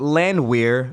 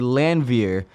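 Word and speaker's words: Landwehr: but my partner uh told me that it wasn't landweir it's actually lanvir you haven't seen it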